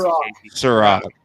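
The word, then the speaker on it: Cîroc: How do you pronounce Ciroc. it, Casey? Ciroc. Ciroc.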